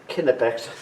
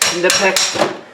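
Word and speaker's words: Knipex: that hurt a little bit grab my nipex kpex I actually know that it's pronounced kex but I hate saying that that way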